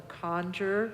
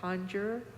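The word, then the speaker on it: Kangyur: Tibetans have two collections one is called the conjure because there's Ka again the word of the Buddha k a n g y u r conjure probably not spelling that right but those are the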